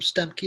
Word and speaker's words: Stuemke: My last name Stuemke is spelled Stuemke, And I have a couple books over there, a couple articles.